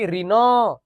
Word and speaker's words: ঋণ: শব্দের শেষে যে অটা থাকে না সেটার উচ্চারণ হয় না। আর উচ্চারণ না হলে আমাদেরকে এই চিহ্নটা দিতে হয়। বুঝতে পারছো বিষয়? এটা কি ঋণ নাকি?